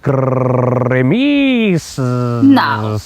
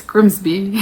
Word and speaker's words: Grimsby: But what if we told you it was pronounced Grimis? No way. It's Grimsby.